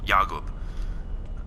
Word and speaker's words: Jakub: a person from Sudan whose name was Jakub which is basically like Jacob it was why AG o ub yah goob I mean that's not